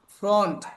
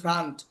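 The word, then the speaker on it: front: দেখেন আমরা শিখছি কি ফ্রন্ট এফ আর ও এন টি এটা উচ্চারণ হছে ফ্রন্ট আমরা কি ফ্রান্ট শিখছি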